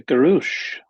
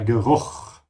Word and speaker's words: Geruch: Der Geruch, the smell. Der Geruch, the smell. So make sure you pronounce the CH like a ch sound.